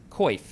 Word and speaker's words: coif: it does look so the first form it says koif it does say the pronunciation is koif but also for part